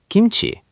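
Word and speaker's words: 김치: Second syllable, ch is ch, and E is E, chi, kimchi.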